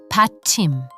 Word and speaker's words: 받침: And that brings us to one of the most important beginner concepts in Korean pronunciation and grammar, batchim.